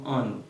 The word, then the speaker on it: Ano: qui parle de français, mais on prononce comme Ano. Parce que depuis un A, il suivi de un N ou bien M en portugais, le plus souvent, il prononce comme An. Ok?